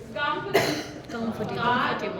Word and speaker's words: comfortable: कंफर्टेबल. थोड़ा सा squeeze करिए, कम पे स्ट्रेस दीजिए तो इट्स कंफर्टेबल.